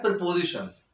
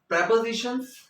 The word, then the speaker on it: prepositions: Eight, ये होता है प्रीपोजिशंस। ठीक है, प्रेपोजिशंस भी इसको बोलते हैं, प्रीपोजिशन भी इनको बोलते हैं। करेक्ट प्रोनाउंसिएशन अगर मैं बात करूं तो वो प्रेपोजिशंस है।